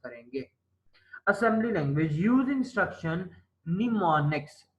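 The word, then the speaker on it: mnemonics: assembly language use instruction निमोनिक्स एम इसमें silent है निमोनिक्स ट हैव न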